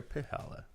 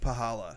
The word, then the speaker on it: Palla: we got Gabe palla is it palla or palla it's palla but it you kind it kind you kind of say it like pahala pahala anyway we got Tyson